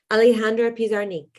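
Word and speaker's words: Alejandra Pizarnik: alejandra autograph how do you say her name alejandra pisarnink yes and i was actually wondering it's if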